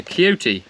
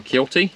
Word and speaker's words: Kioti: have on the farm I'm actually in a cutie or kyoti however you want to pronounce the brand it is currently on